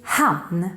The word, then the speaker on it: hann: And that would be han. Don't mix it up with han, even though it's pronounced exactly the same.